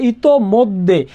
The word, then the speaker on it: ইতোমধ্যে: ম আছে, একটু খেলো, ইতোমধ্যে, মধ্যে উচ্চারণটা আমরা কি করি? মৌকার মদ। এখন দেখো দয় জফালা ওকার, তাহলে দয় জফালা থাকলে উচ্চারণ কি হবে? দ্বিত্ব হবে।